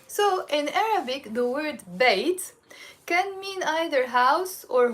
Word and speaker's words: بيت: in Arabic the word bait can mean either house or home okay and in the Lebanese dialect we pronounce it in two ways we can pronounce it bit or we can pronounce it bit it's the same bit